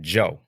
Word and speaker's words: Jeaux: Joe um spelled j e a u x but it's pronounced Joe not like how y'all